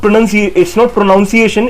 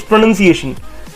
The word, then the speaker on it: pronunciation: So it means it's not pronunciation, it's pronunciation. So pronounce नहीं बोलना हमें, यहाँ पे pronunciation बोलना है, and इसकी pronunciation है PRUH hyphen NUHN hyphen SEE hyphen AY hyphen SHUN.